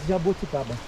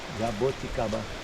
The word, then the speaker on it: jabuticaba: We say jabuticaba, just in Brazil. Okay. Yeah, I can't pronounce it. Jabuticaba. Jabuticaba. It's easy. Jabuticaba Yeah. is the fruit. If you say Oh, it's jabuti without the kaba, jabuti Jabuti. is a turtle.